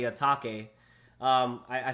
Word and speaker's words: Atake: And if you look at it, it could be eternal atake because that's how you would say it in a Japanese, you know, context. Atake. So that's why I say it like that.